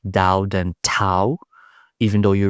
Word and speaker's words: Tao: In English, the spelling is Tao, but it's pronounced more like Tao than Tao, even though you read it as Tao, but it's with a silent D, if you will.